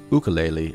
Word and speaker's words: ukulele: teaches ukulele or ukulele as it's technically pronounced as he will tell